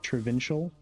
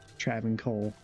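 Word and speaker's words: Travincal: also had someone in my videos say that they say travol like traial. Thought that was interesting, but I don't think it's right because Kane says Trav Cole like with a hard C.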